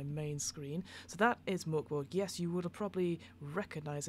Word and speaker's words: Mörk Borg: way, today we are looking at Mörk Borg, or Mörk Borg, depending on your pronunciation. I know a lot of us US and UK people say Mörk Borg because it has a nice sort of rhyme to it.